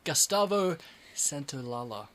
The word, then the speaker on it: Gustavo Santaolalla: Gustavo Santaolalla. Okay. That was a beautiful pronunciation, as usual, Razor.